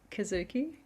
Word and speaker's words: Kizuki: grief journey, and it's called Kizuki. Is that That's right? right. That's right. Have I pronounced it right?